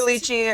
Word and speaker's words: lychee: Try their lychee or leche. I don't know how you say it. Lychee. I think lychee. It's Lychee. I always feel like I say it wrong, but it's lychee iced tea.